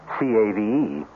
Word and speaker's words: cave: For myself, I equate cave with the Latin word spelled the same way, C-A-V-E, but pronounced cave.